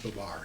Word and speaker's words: Babar: off I realize there's numerous ways to pronounce the main character but this book was read to me by my mom is a little guy and she always used the bar so that's the way I'll be saying it shall we